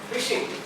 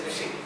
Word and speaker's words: phishing: Phishing. It is pronounced as phishing only, okay? But spelling is different.